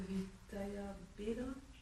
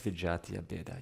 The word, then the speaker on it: vijatiya bheda: The Vitaya Beda. Am I saying it right? That it's under the group of Vitaya Beda? That's Vijatiya Beda, yeah.